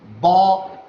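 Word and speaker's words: bough: T-O-U-G-H is pronounced as tough, whereas B-O-U-G-H is pronounced as bow, bow.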